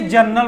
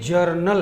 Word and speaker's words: journal: उसे जनरल कहते हैं कुछ लोग इसे जनरल बोल देते हैं यह गलत है यह जनरल है और यह जर्नल है तो हम लोग जर्नल बोलेंगे स्पेलिंग भी आप देख